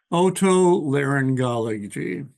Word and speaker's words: otolaryngology: How do you pronounce that, Rob? Otolaryngology.